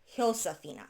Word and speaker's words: Josafina: And I'm probably going to be calling her Josafina because English is my first language, obviously. In Spanish, it would be Josafina because their J's are pronounced as an H, and it does mention that in her books.